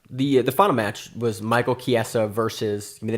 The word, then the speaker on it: Chiesa: I'm surprised you can say Chiesa, that you didn't say Chisia or something like that. I know. Watch MMA, Josh. I know it's Chiesa.